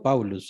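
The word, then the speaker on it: Παῦλος: Pablo, ¿cómo se pronuncia en griego? Paulus.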